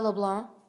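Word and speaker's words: Leblanc: name for me sure l e b l a n c but the C is silent yes sir okay do you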